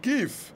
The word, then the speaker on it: GIF: coach à vrai dire ça se prononce gif on s'en moque c'est